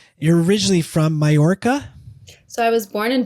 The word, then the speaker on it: Mallorca: So in the Spanish language, a double L is pronounced like a J. So Mallorca.